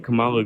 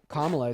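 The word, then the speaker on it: Kamala: I don't understand what's Camala going to do. What was Camala going to do? Kamla is how you pronounce her name.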